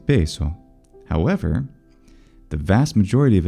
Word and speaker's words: peso: Italians, and that's because the traditional pronunciation of the S intervocalically for the majority of words is voiced, but there are several words in traditional standard Italian pronunciation that are retained as voiceless, and those include così, caso, cosa, naso, mese, riso, sorriso, of course, as well, and peso.